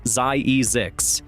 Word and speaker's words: Zzyzx: Zzyzx, pronounced ZIE-ZIX, is an unincorporated community